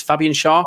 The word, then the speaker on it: Fabian Schär: I think it's Fabian Schär.